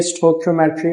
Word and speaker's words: stoichiometry: That is स्टोकियोमेट्री। अलग-अलग लोग इसको अलग-अलग प्रोनाउंस करते हैं। बट मेरे लिए ये स्टोकियोमेट्री है।